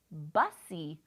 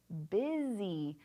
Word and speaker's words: busy: we look at it, it looks like bussy. But is that what it says? No, this word right here is busy. B-U-S-Y says busy. So that is an irregular vowel sound.